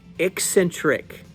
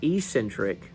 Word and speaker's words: eccentric: the third tier sutliff's eccentric not Ecentric eccentric actually had someone leave me a comment about learn how to pronounce it sorry redneck from Tennessee we say Centric because it's easier than eccentric uh but son of